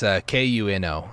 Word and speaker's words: Kuno: It's Kuno, like Kunoichi is what it stands for.